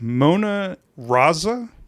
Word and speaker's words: Mona Raza: Today we're here with Mona Raza. Is that the correct pronunciation?